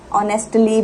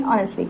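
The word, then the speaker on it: honestly: ऑनेस्टली भी बोल सकते हैं। बट टी को साइलेंट कर देते हैं ताकि हमारी जो स्पीच है वो फ्लुएंटली लगे तो हम बोलेंगे ऑनेस्टली ऑनेस्टली speaking right like this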